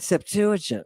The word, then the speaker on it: Septuagint: That's why you'd think they'd learn how to pronounce it properly, right? Septuagint.